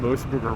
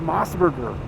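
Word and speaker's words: MOS Burger: like weep know-it-all weeps telling us that we were saying the name mburger wrong they're like it's mosburger you're saying it wrong I was like what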